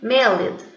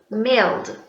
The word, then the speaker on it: mailed: So remember, this third case we pronounce as a D. We don't pronounce ed. Like sometimes I hear people saying mailed. It's not good. So we'll say mail, mailed. Don't pronounce the E.